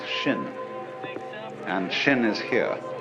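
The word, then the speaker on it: 心: please pacify my mind in Chinese mind is um this word pronounce shin and shin is here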